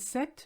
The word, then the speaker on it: ces: which case sir and set becomes se c e s and you never say the s by the way the combination of e and s make the sound e so you say say